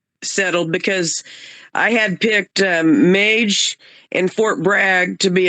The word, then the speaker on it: Mage: I was really impressed with number 4, Mage or Madge. I heard the announcer pronounce the horse in both pronunciations. I'm going to go with Mage, because Madge is kind of like a nickname for a woman. So I'm going to go with pronouncing it Mage.